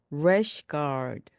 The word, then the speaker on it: rash guard: 이때도 R이란 발음으로 시작하기 때문에 입 모양을 우 하고 만든 상태에서 rash, rash 그리고 guard를 붙여서 rash guard, rash guard, rash guard, 래시 가드입니다.